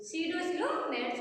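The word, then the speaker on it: pseudocoelomates: सीडोसिलोमेट्स spelling P से silent, P से start होगी, पी साइलेंट्स होगा।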